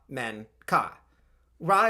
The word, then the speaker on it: Menkaure: since my last video I think raw would probably be the emphasized syllable we know raw was